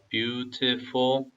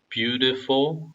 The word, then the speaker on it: beautiful: beautiful, saw the beautiful. 여기서 빨리 읽으면 이 티귿 발음이 묵음이 되는데요. 그게 어려우시면 티귿 발음 넣으셔서 발음하셔도 됩니다. beautiful 아니면 beautiful 이렇게 하셔도 돼요.